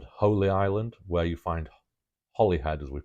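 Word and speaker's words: Holyhead: And Holy Island, where you find Holly head as we pronounce it, although it's spelled Holy Head, Holy Island is a Urius.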